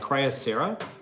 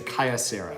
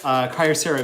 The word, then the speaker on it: Kyocera: cutting device it's made by cryo Sarah was a Kaia Sarah oh by the way